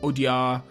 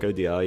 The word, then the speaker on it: Audiard: Okay, that was To San Francisco from The Sisters Brothers, a film by Jacques Audiard.